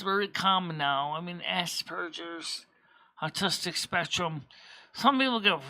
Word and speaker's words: Asperger's: It's actually pronounced Aspergers, Asperger's. There's a P as in Pop-Tart, not B as in butter or beach ball.